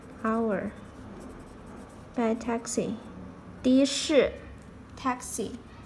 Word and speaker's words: 的士: The is also a polyphone when it comes to 的士. You have to change the pronunciation 的 into 的.